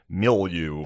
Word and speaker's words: milieu: beyond my fucking my milieu.